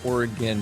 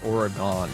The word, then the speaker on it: Oregon: call Nevada but it's Nevada and Oregon is Oregon not Oregon oh my gosh when people say that it